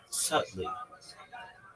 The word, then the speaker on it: subtly: The key is to say subtly. Sub. Right. B is silent.